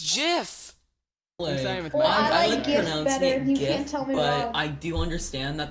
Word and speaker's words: GIF: the guy who created gifts gifs gifts gifs pronounced it says it's jiffs he says it's jiffs it also makes sense